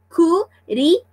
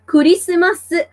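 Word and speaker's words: クリスマス: But anyways, guys, yes, Kurisumasu, because guys, once again, Japanese are speaking through syllables, so Christmas is called Kurisumasu in Japanese.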